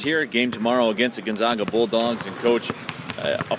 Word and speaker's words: Gonzaga: from gonzaga and uh they said you're gonna get in trouble out here if you pronounce it gonzaga because i said well i think gonzaga is a very good team and then stop me immediately it's gonzaga uh so let's make